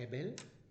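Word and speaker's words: הבל: Y es de lo poquito de hebreo que pronuncio más o menos bien, el Hebel.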